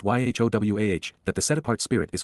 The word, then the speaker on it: Yahowah: The fact that God's name is pronounced YHOWAH, that the set-apart spirit is feminine, that Torah